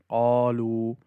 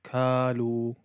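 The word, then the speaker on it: قالوا: So for example, qalu, some people pronounce it as kalu, kalu.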